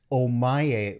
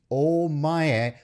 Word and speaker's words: Ohmae: look him up online his name is spelt omaye with an h this is actually not correct in japanese in the japanese language it actually should be oh maya with a double o just in case you're